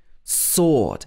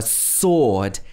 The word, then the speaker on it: sword: the top two words the w is pronounced like swan and swallow but in sword it's silent sword for example the knight held a sword in his hand often